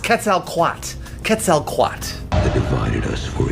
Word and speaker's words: Quetzalcoatl: It's pronounced Quetzalcoatl.